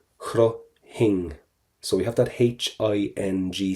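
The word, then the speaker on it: chroithfinn: Number one, we are not going to pronounce the F, that has to go.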